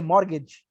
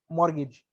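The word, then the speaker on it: mortgage: मॉर फिर T silent है, मॉर्गेज, MOR, टी को साइलेंट रखो, मॉर्गेज।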